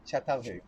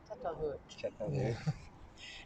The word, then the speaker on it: Çatalhöyük: You remember the name of it is a little bit pronunciation is like Turkish, but Çatalhöyük, we say. Çatalhöyük.